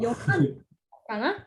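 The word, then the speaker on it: יוחנה: Joanna (pronounced Yohanah in Hebrew) went to Jesus's grave with some other women after he had been buried there.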